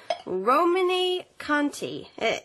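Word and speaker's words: Romanée-Conti: Romane Conti. Is my pronunciation correct?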